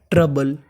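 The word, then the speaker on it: trouble: तो मीनिंग बनी हमारी टी आर ओ यू बल इस मीनिंग में हमारा ओ यू साइलेंट है ओ यू का उच्चारण नहीं करना तो मीनिंग बनी ट्रबल ट्रबल का मतलब परेशानी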